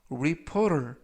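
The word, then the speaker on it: reporter: 이라고 발음 하시면 되겠고요 이때 그 부분에 있는 알파 베티는 트가 아니라 부드럽게 르 그래서 우리 포를 이라고 바람 하시면 더 좋겠습니다 품사는 명사 뜻은 기자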